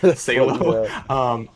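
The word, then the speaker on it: Salò: If you watch my original Sallow video where I mispronounced the title, Salo, that's a whole other discussion.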